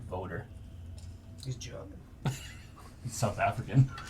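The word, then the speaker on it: Wouter: w w u t e r interesting he pronounced voter he's German he's South African he's South African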